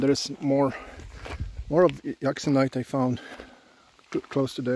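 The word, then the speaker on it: euxenite: probably hour and a half I really like oxonite that's how you say it so that's what I came here for and I found nice examples of crystals this black blaty uxonite cross sections when Crystal breaks is very recognized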